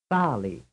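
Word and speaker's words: sale: does the word contain Sali the answer is two frame 22 which syllable is stressed the first or the second the answer is the first now here is a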